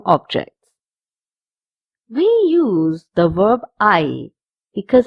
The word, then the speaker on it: hay: We use the verb I because it's a very important verb when we make a sentence. First of all, I is spelled as H-A-Y, and it has 2 meanings.